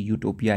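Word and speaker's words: utopia: यहां पे you silent नहीं रहेगा। प्रोनाउंसिएशन इसकी यूटोपिया ही रहेगी।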